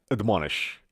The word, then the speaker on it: admonish: لغت بعدی ما میگه admonish. اوکی؟ admonish. اما ا نمیگید، ا میگید. پس میگیم که admonish. اوکی؟ admonish. به هیچ وجه ممکن تلفظ admonish یا admonish نیستش.